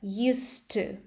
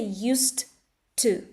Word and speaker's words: used to: connect these two words, used to. I don't say used to. It happens because s here is unvoiced and d becomes unvoiced as well.